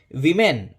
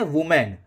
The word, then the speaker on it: women: विमेन, ये ध्यान रखिए, ये इस वर्ड को क्या बोलते हो आप? कई लोग इसको बोलते हैं वुमेन। ये वुमेन नहीं है, वो बिल्कुल ही गलत इंग्लिश है।